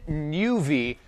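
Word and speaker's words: nüvi: this is the Garmin Nuvi 265 WT you have to pronounce it that way because it has an umlout on it is that even a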